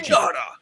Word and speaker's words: Aokigahara: It's well, I can't pronounce it. Aoki- It's Akogahara, the Sea of Trees. Aokigahara. It's on Mount Fuji. Aokigahara.